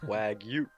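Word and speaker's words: wagyu: the New York strip you got to pronounce it with like two syllables wag you wag you the rare play yeah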